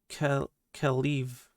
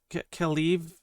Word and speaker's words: Kaliv: It's Kaliv, sir. Kaliv rhymes with leave.